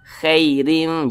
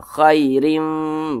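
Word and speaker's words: خَيْرٍ: itu dilunakkan mudah khairin jangan sampai ki ki jangan sampai condong ke e jangan dibaca khairim jangan tapi dilunakkan khairin gitu kemudian di sini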